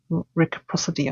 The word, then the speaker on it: reciprocity: I had a look at Google, and the pronouncing is reciprocity. English language is so stupid. So it sounded like the RE was silent, so it's just reciprocity.